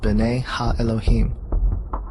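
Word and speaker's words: בני האלהים: of God mentioned here in the Hebrew is pronounced bene ha Elohim the Septuagint which is the Greek translation of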